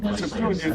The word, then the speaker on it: Septuagint: Certainly, the word Septuagint is pronounced as Septuagint.